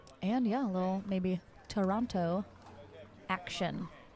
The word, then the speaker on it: Toronto: little maybe Toronto action see Toronto Canadian friends that's how you say it you know that right the what tono tono yeah tono that's how you say it oh if you're from there oh okay all right